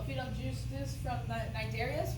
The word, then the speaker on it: Cnidaria: They'll feed on juices from the cnidarias. The C is silent.